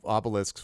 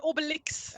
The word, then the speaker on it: Obelix: Because that was what, Obelisk was a Menhir deliverer. So. Wow, you mispronounced both of their names. What? What do you mean? One go. Not Asterisk and Obelisk. Asterix and Obelix.